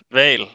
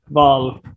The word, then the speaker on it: hval: Jag skrev också val. Lägg märke till att vi på dansk har ett stumt H föran som kan förvirra riktigt många när man ska stava till val.